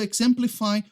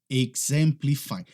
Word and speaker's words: exemplify: Exemplify. Preste atenção na pronúncia, porque aquele X, ele não tem o som de Z igual em português. Não é exemplify, é exemplify. Imagine que tem um G ali.